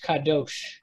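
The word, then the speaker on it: קדוש: ends with that sound so it would be sh kadosh with the sh not not ch and the same thing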